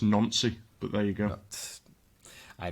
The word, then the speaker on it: Nancy: It's actually pronounced Nancy, but there you go.